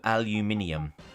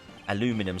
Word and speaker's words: aluminium: Aluminum sounds like you're desperate for a pee and asking for it sharpish. Yeah, look, aluminium, I'll go for that. I mean, to be fair, like, we pronounce it correctly based on the spelling. Because there's aluminum. Yeah, where's the I when they... It's like they completely kick out the I, don't they?